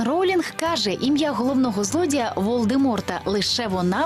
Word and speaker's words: Волдеморт: каже ім'я головного злодія волдеморта лише вона вимовляє правильно насправді літера т в його імені не вимовляється правильно волдемор та найголовніше Гаррі Поттер